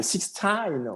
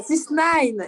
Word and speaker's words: 6ix9ine: On va partir du cas de 6ix9ine. Vous voyez, là, je l'ai bien prononcé, là. 6ix9ine. C'est bon, Maya? Non? Non, Maya nous dit non. 6ix9ine.